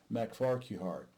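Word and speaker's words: MacFarquhar: by howard university professor roderick mcfarkwar mcfar kuhar m-a-c-uh f-a-r-q-u-h-a-r i actually know that name but it's the first time i've actually had to pronounce it mac farquhard uh which characterized she as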